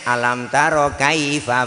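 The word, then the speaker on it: أَلَمْ تَرَ كَيْفَ: Ucapkan 'alam taro kaifa', jangan ucapkan 'kaifa' seperti itu ya? 'Kaifa' diucapkan dengan tidak jelas, seharusnya 'alam taro kaifa', bukan seperti yang Anda katakan.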